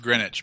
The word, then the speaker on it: Greenwich: It's pronounced Greenwich, but yes. Greenwich? Yeah, I was like, you don't pronounce the W.